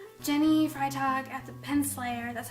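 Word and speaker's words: Freitag: blog if you would like to say jenny fry talk at the pen slayer that's how you pronounce my last name by the way fry talk ride dog jenny fry talk as a pen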